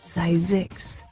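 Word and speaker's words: Zzyzx: The town named Zixs, yes, it's real. Pronounced Zizix, this Mojave Desert spot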